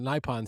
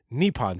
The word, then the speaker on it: Nippon: both us steel and npon steel or I guess I should pronounce that correctly nepon steel been inside the Beltway